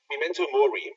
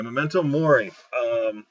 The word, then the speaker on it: Memento Mori: on this, Memento, how was the other word pronounced? Memento Mori. Okay, Memento Mori.